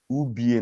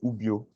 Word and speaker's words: Ubie: Ubie, not Ubio.